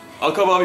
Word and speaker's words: 紅葉: どうも、赤羽です。もみじと書いて赤羽と読みます。